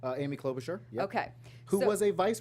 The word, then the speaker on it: Klobuchar: today there were as questioning by help me pronounce her name clove char Amy Klobuchar okay who was a vice presidential her name